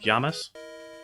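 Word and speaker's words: llamas: marker or for example the Double L in Spanish is is pronounced like a Y so it's like yeah essentially so like Lamas would be like yamas like you know the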